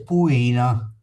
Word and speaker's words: puina: Da noi in Veneto ricotta si dice puina. Puina con accento sulla i ricotta.